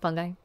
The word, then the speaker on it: fungi: Fung fungi fungi fungi fungi like nuclei yeah yeah I think